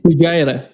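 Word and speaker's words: Fujairah: Moreover, what they hid in the UAE is the the pipeline and the port of Fuera. Am I am I pronouncing that correctly? Fujira.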